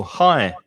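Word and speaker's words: high: one is um alto hi it's the same as hi hello hi exactly the same pronunciation so the g is silent and the h and kings and queens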